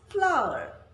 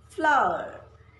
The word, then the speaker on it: flour: it's also pronounced as flower flower so you see these are homophones they have different spellings different meanings but same pronunciation the third word rhymes